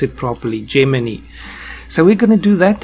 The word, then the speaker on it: Gemini: So, yes, I must remember to pronounce it properly. Gemini.